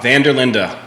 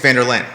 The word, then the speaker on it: van der Linde: of your last name oh vanderlinda van der linda not as it appears because a lot of folks think it's vanderlaan and we'll that's good